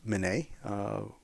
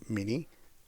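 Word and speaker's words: Minié: So technology takes us one step further with the French guy by the name of Minet, or Mini, the way we pronounce it, and he developed a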